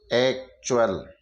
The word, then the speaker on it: actual: जब टी के बाद में UAL आए तो टी को हम च पढ़ते हैं। टी का उच्चारण च पढ़ेंगे। जैसे ACTUAL। अब यहाँ पर टी के बाद में UAL आ रहा है तो हम टी को च पढ़ेंगे। एक्चुअल, ये एक्चुअल हो गया।